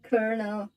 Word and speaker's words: colonel: so funny and also i think you pronounce it colonel like colonel sanders from kfc but the way you write it is so different no i don't know